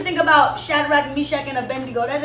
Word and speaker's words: Abednego: And I begin to think about Daniel, and I begin to think about Shadrach, Meshach, and Abednego. That's how you say his name, Abednego.